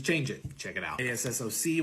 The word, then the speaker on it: ASSOC: ASSOC, which is what I'm pronouncing as assoc.